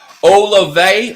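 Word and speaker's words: Olave: pronounce these things wrong it's pronounced oh la vey all of a sudden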